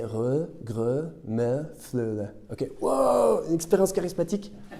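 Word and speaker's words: rødgrød med fløde: Et il y a un dessert qui est très dur à prononcer, c'est re, gre, me, fleu.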